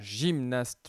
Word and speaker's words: gymnaste: Alors, un gymnaste, le G se prononce J, donc dans la colonne de gauche également.